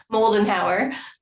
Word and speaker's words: Moller-Howarth: So, how do you say your last name? Moller-Howarth. Yeah, just like it's just like it's spelled.